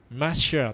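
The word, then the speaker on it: משיח: うんうんだからメシアっていうのもえ実際はもっとねえマシアとかねそういう発音になったりえ日本人は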